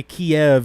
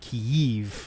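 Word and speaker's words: Kyiv: in Russia essentially like Kiev in Russian yeah there's two there's two it's technically a diphthong between two of the same vowel sound apparently Kiev is the Russian pronunciation but Kiev yeah Kiev there's like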